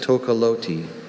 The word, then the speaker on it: tocalote: Are there any alternate pronunciations? Just Tokoloti.